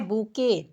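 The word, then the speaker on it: bouquet: यहाँ पर बुके देखिए, आपको यहाँ ओ भी साइलेंट किया गया है और टी भी साइलेंट किया गया है। इसका उच्चारण क्या पढ़ाएगा? ब पर छोटा ऊ कमंत्रा बू, क पर ए कमंत्रा के। इसका उच्चारण हो जाएगा बूके।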